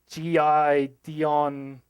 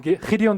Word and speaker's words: Gideon: So for Americans, they normally pronounce this as G.I. Dion ridiculous. They just can't do that last part.